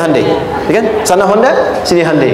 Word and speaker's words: Hyundai: bikin Honda sini Hyundai Hyundai kan dibacanya hundai kan sana Honda sini